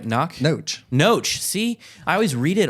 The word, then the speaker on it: Knoche: It's pronounced right, Knoche? Knoche.